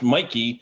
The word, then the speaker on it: Mikey: another fake name yeah the way that the like the legal spelling of my last name is it's wonky but it's always been pronounced mikey and so i just